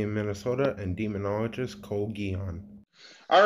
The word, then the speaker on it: Guion: Guion, like neon, but with a G.